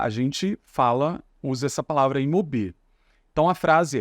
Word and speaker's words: mobil: Cuidado para a gente não colocar a sílaba tônica aqui no O, tá? A gente não vai falar mobil, a gente fala mobil. É como se aqui tivesse um acento, tá?